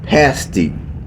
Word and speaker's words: pasty: to be called a pasty. That is spelled P-A-S-S-T-E-E.